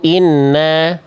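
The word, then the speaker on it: إِنَّ: Tahan dulu bacaannya. Jadi jangan sampai dibaca begini. Ya ayyuhan nabiyu inna n-nya tahan dulu.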